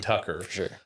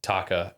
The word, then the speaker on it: Taka: But I he the way that they pronounce it sounds like almost Tucker, but it's Taka.